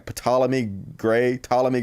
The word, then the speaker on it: Ptolemy: Ptolemy Gray. I think the P's silent.